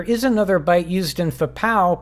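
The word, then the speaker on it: FPA0: The star of the show is the floating point accumulator number 0, pronounced FPOW!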